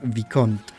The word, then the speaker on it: Vicomte: That sounds more like a word that the French made and you took. And there it would be something like Vicomte. You will forever refer to